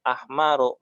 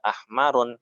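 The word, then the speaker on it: أحمرُ: ini kok nggak ditanwin, qalamun ahmaru, nggak ahmarun ya, karena ahmaru adalah salah satu isim yang tidak ditanwin ya.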